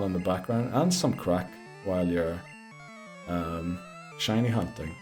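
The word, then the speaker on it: craic: No, crack is spelled C R A I C.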